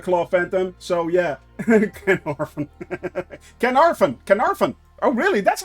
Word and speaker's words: Caernarfon: Caernarfon. Oh, really? That's how you pronounce it, Caernarfon.